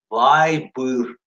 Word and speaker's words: Viber: Слово читается вы, вай, а быстро вай, вайбер, вайбер, или бюр, или быр, вайбер. Viber, U-I-B-E-R, Viber, Viber.